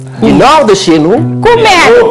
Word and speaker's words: Kouméalo: Kouméalo. Kouméalo. Les Afriques. Kouméalo s'écrit.